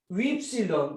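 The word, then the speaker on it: ὖ ψιλόν: Ypsilon. Mucha gente se pronuncia U, pero no es U, es oui, como el francés.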